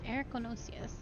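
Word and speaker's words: Erichthonios: would be super pleased erico nocias ericonosius oh that is how it it's erykonosis i looked it up someone not a sound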